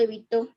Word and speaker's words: evitó: ¿Cuál es la sílaba fuerte de la palabra evitó? Evitó. La sílaba to es la sílaba que lleva la mayor fuerza, ¿correcto? Es la última sílaba de la palabra evitó. Se determina entonces que es una palabra aguda.